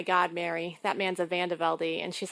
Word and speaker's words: VanDeVelde: Well, in Belgium, they say VanDeVelde. So Mary's correct in American, but my family chose to say VanDeVelde.